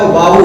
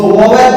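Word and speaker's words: vowel: Real pronunciation है इनका वाउल। हम लोग को स्कूल में बताया गया, हमेशा बताया गया, इसको वोवेल पढ़ते हैं, वोवेल, लेकिन रियल में इनका जो रियल प्रोनाउंसिएशन है, ये वोवेल नहीं, ये है वाउल।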